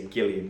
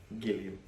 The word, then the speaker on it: Gilliam: He's American, so he'd probably say Gilliam, wouldn't he? He wouldn't go G, he'd go G. Gilliam.